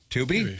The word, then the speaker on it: Tubi: How do you pronounce this? Dazn. No, Tubi. Oh, Tuby. Tuby.